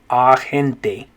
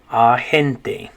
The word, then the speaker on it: agente: we had was agent in english the a makes an a sound agent but in spanish that a will make an ah sound agente agente their next word was